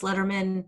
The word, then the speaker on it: Lederman: It's with 2 L's, Lederman, spelled with a D, but sounds like David Letterman, .com, and you can find all the ways to find me.